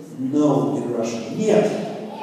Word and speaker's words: Нет: Нет. Нет. See, the letters look like letters in English, but they have completely different pronunciation.